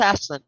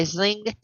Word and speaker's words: Aisling: Celtic um prophetic dream I proceeded um it's pronounced Ashland yeah it's Ashley Ashley yeah of course it